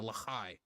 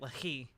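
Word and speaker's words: Lehi: Nazi Germany and the Lahai, right? I can pull any amount of Israelis from Israeli. Ah, shit. I've been pronouncing it Lahi. I guess it's Lahai.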